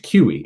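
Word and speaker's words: CUI: have any sort of confidential unclassified information c-u-i pronounced qe and it's the legitimate term that they use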